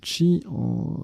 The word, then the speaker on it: qi: Le qi, on prononce également chi, l'énergie vitale dans les pensées chinoises et japonaises.